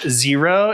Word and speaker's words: Xero: These are the Genesis sandals from zero it's spelled x e r o these are uh popular